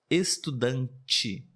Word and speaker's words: estudante: exemplo também seria estudante estudante de e no final porém nós temos esse som muito comum estudante e é como se tivesse mais uma letrinha ali o som do J do CH mas na verdade é somente